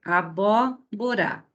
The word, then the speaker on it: abóbora: Nesta primeira, olha, abóbora. Então, penúltima, última, penúltima, antepenúltima. Então, a proparoxítona sempre tem a antepenúltima sílaba acentuada, certo? Abóbora.